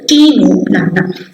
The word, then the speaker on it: Ctenoplana: How to pronounce this? Ctenoplana.